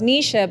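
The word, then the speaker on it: Knyja: So it's Nisha, but it's spelled K-N-Y, I know, J-A. What? I know.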